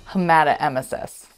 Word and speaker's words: hematemesis: Hematemesis. We've all been there. Correctly pronouncing challenging medical terminology can not only save you embarrassment, but it's critical to good communication and patient care.